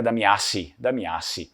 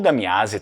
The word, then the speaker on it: Damiazzi: A gente tem algumas versões desse sobrenome aqui, algumas escritas diferentes, mas em vêneto a pronúncia vêneta seria Damiasi, ok? Ou Damiase também poderia ser.